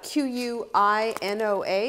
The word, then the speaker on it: quinoa: right, we're talking about quinoa today, and quinoa is Q-U-I-N-O-A, it's pronounced quinoa.